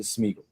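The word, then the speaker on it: Smigiel: Is it Smigel? Is it Smeagol? What is it? Every single analyst that I've heard say his name, including people that have talked to him repeatedly, have pronounced it Smeagol.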